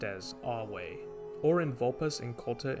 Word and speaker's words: Ave: be seen in the greeting a meaning hail pronounced as awe or in vulpus in culta introducing himself pronouncing